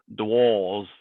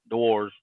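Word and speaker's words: Dewar's: I was gonna say that my first half hour is sponsored by DeWalls. If you're royalty, it's pronounced DeWalls. DeWalls. It's DeWars.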